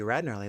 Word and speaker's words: Gnarly: about your old pal the silent G rarly that's this dumb face